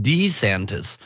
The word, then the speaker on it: DeSantis: it announcing his candidacy apparently pronounces his own name Ron D santis Kermit D frog style so we have to